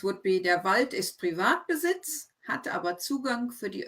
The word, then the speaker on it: Privatbesitz: It's very tempting to pronounce words in English when you recognize them. I always find they're often the worst words to read because you think, oh, I know that word, private.